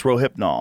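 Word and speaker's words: Rohypnol: some countries as a I'm saying it wrong it's roipnol roipnol yeah um it's sold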